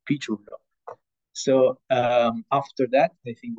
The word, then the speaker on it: Piciullo: So the correct pronunciation of my surname is Piciullo. So just remember the fruit, the peach, and then it's easy, Piciullo.